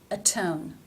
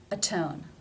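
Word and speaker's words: atone: why is that Auto a tone the reason is think back to rule 1 because the T in a tone is beginning the stressed syllable so rule 1 is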